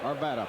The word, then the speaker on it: Arvada: Do I pronounce that Arvada? Arvada.